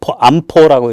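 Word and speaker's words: 安保: 일본 발음으로는 안포라고 읽는 것 같아요.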